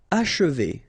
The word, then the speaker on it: achever: Achever. Okay, and then if you want to pronounce it the way French people will do, so don't insist too much on this and you will get H.